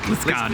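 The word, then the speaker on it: Liskeard: Is it Lisgard? Is that how you pronounce it? Lisgard, yeah.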